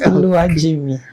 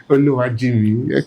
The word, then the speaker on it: Oluwajinmi: Oluwajimi did I get that name right yes Oluwajimi Oluwajimi okay please introduce yourself I mean let's know